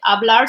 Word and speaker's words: hablar: I don't like know that the hablar like the H is not pronounced like hablar.